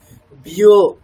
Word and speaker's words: व्योम: উচ্চারণ করতে হবে, বিও। ঠিক আছে, বিও। ভ্রম নয়, বিও।